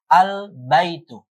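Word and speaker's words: البيت: baitun ee alif lam maka cara bacanya adalah dengan izhar jelas baitun menjadi albaitu ya qolamun ya qo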